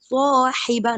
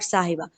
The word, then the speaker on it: صاحب: Swahiba, not sahiba.